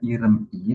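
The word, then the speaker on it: 이름이: Bukan dibaca irem i tapi iremi. Nah, M-nya ini naik ke bagian vokalnya. Apabila dia bacin bertemu dengan vokal. Iremi.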